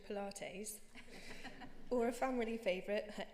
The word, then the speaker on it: Pilates: of a joke or mispronouncing words he knew that Pilots was actually Pilates or a family favorite